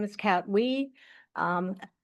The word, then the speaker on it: Ui: My name is Cat Wii. Um I know it's spelled UI. It is pronounced we like we.